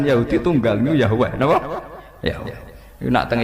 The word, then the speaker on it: Yahweh: Yahweh. Iku nak teng ejaan Latin Y besar, A H besar, W E H besar. Yahweh.